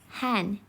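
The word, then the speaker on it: 漢: was chinese characters kanji kan is pronounced han in china and han is the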